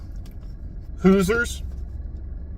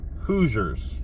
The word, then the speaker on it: Hoosiers: Blew Up the Kid hoosers shoot Hoosiers yeah that's like I said hoosers I I pronounce this for some reason Hoosiers there you go uh Dennis